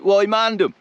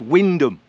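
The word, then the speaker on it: Wymondham: People in towns like Wymandham, it's Windham. Hyangham, it's Hingham.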